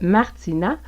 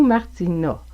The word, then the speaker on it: Martina: Les A en début de nom sont généralement prononcés A. Par exemple, dans Martine, si vous avez Martina, vous pourriez entendre Martina ou Martina. Donc, le premier A serait ouvert et le deuxième fermé. Martina, Martina.